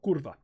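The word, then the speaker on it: kurwa: pronoun pronunciation of kurva I learned that polish pronounce W's as V's in the same way that Russia does so kurva um that's the best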